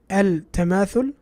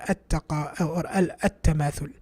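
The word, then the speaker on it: التماثل: Al-tamathul or at-tamathul? Because all of these are obviously tas and there's a lam here. So the correct pronunciation would be at-tamathul with a ta. Even though what's written is al-tamathul.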